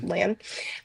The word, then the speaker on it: Lan: Lan.